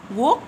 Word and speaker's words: walk: walk to school walk w a l k حرف ال a هنا بينطق o وال l هنا silent انا بكتب فوقيه صاد يعني صامت حرف يكتب ولا ينطق.